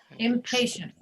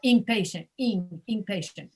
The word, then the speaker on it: impatient: empty attempting contempt impatient typically what spanish speakers will do here with the words that start with i am they will they will pronounce them as if it's i n and they'll say inpatient your lips have to touch each other with all these words impulsive presumption your lips